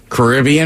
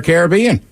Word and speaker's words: Caribbean: ] slap him every time he says it Caribbean or Caribbean uh the better the Pirates right but I'm